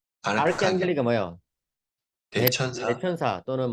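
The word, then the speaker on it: archangeli: 그 다음에 CH는 크 발음이거든요. 그래서 아, 아르크 앙겔리. 아르칸 아르크앙겔리가 뭐예요?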